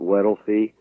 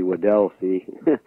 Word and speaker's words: Weddell Sea: and the Weddell Sea had mispronounced that before I called it wealthy but I've been corrected it should be Weddell Sea the southern coast of